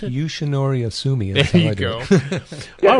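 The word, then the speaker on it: Yoshinori Ohsumi: And it seems like everybody's interest has been rekindled by Yoshinori how do you pronounce it? Yoshinori Asumi.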